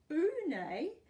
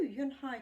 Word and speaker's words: Unhei: "Oonay?" the girl asked, scrunching up her nose. Oonay?" some kids chanted. No, Yun Hai corrected. "It's spelt Unhei. It's pronounced Yun Hai."